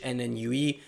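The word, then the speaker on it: NNUE: know in 2021 stockfish n and ue uh and it's pronounced like a new or a new or whatever and leela are some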